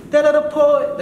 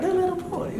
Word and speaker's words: DeleDaPoet: DeleDaPoet. DeleDaPoet. That's right. DeleDaPoet. DeleDaPoet, y'all. Hey. It's like a song, you know? Okay. You just gotta say it like that every time.